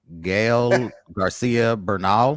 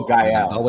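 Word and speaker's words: Gael García Bernal: I don't know how to pronounce this young man's name. Gael Garcia Bernal. Oh, Gael. Gael Garcia Bernal.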